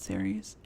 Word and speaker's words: Ceres: tarot virgo and ceres i think it's pronounced series which is an asteroid